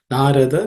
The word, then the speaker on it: Narada: Narada, they are all unaspirated consonants, so it should be simpler to say.